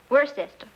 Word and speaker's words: Worcester: something else too dark but it's spelled w-o-i-c-e-s-t-e-r we're a sister oh yes I see